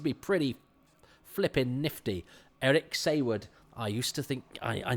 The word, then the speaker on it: Saward: Eric Saywood, I used to think, I know, it's a funny name, Saywood, and I certainly used to think it was pronounced Saward, until I saw a documentary about a true